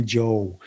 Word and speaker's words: Jo: call me he would call me which is the norwegian pronunciation but he would also call me joe so when i started